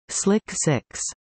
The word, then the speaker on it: SLC-6: Space Launch Complex 6, SLC 6, pronounced as Slick 6, originally built for the abandoned Manned Orbital Laboratory project, was extensively modified for shuttle operations.